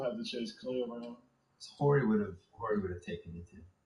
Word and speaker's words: Horry: Horry would have taken you too. It's Horry. It's a silent H.